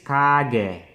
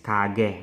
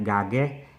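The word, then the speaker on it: 가게: So mapapansin nyo na talagang yung pronunciation is iba. This is kage, not gage.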